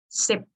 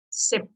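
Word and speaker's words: สิบ: But 10 we have the ending sound like p, right? But we don't pronounce p. Sip. Sip.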